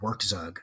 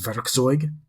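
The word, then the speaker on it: Werkzeug: the longest time I always said work zug or work zoo but it's I looked it up one time it's it's it means toolbox in German and it's it's pronounced verig um I I don't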